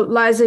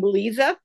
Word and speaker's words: Liza: the others yep so Liza do you live in Canada then I do I actually pronounced my name Lisa okay but yes I